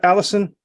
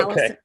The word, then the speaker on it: Allison: And am I pronouncing your name right, Allison? Yes, Okay. Allison.